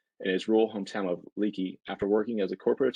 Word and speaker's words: Leakey: Well, thanks, Joey, and Nick, nice job on the pronunciation of Leakey. I know that can be a tricky one sometimes, Leakey versus Lakey, but thanks for the introduction, and it really is great to be here.